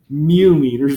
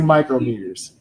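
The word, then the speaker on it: micrometers: we say it right we don't say mu meters we say micro meters and micro is 10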